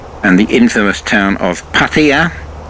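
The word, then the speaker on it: Pattaya: the infamous town of paa much mispronounced by most people who call it patire which is very irritating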